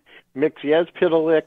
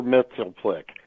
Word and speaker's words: Mxyzptlk: I can't pronounce that shit properly. Let Troy say it. He knows it. Hopefully both versions. Yeah. Mxyzptlk or Mxyzptlk.